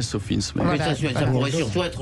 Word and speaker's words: SOFINS: Donc en fait, c'est vrai qu'on prononce plus à l'anglais Sophins.